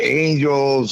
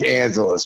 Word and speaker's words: Angelus: Some people say Angels or Angeles, and it's like it's Angelus.